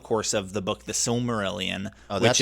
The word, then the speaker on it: Silmarillion: There's a lot of really interesting stories and world building that happens throughout the course of the book The Silmarillion.